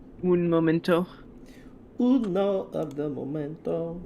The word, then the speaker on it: un momento: Uno the memento. Un momento. Uno of the memento. No, don't say uno. Why? Un. Un Momento.